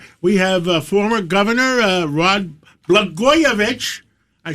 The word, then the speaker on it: Blagojevich: Well, Blagojevich rhymes with Catsimatidis, and in California, I believe they're stealing votes.